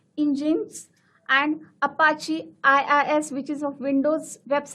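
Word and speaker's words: Nginx: It's pronounced as engines and Apache IIS which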